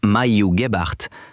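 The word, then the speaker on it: Maiju Gebhard: During the 1940s, Mhu Gibbart, pronounced Mayuart, worked with the Finnish Work Efficiency Institute.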